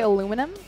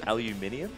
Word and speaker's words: aluminium: How do you say aluminum? Aluminum isn't a word. nor is it a thing. It's aluminium. Have you heard of that one? Thank you. There's like an extra syllable that you're just completely foregoing.